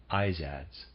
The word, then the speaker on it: Izads: the spots readers aside that's how i'm going to pronounce that i z a d s izadz and of these they enumerated 28 to 31.